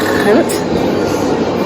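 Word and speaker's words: Gent: okay we are in Hunt it looks like the word g that it pronounced H so I'm here I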